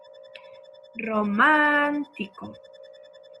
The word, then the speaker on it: romántico: Romántico. Romántico es una palabra esdrújula y lleva tilde.